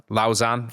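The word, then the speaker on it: Lausanne: Secone who's at Swisside Lison I think I'm right in pronounce Lausan. Thank you Critch our resident French expert. Um it's Switzerland but but it's in a French speaking part I think.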